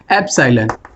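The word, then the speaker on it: epsilon: इसको हम क्या प्रोनाउंस करते हैं? एप्सिलॉन।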